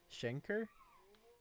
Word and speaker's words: Schenker: pronounce it shin car it's not car it's kur shenker shenker shenker vision 15.